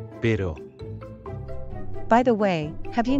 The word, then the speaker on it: pero: Tengo un perro, pero no tengo gato. Perro. Pero.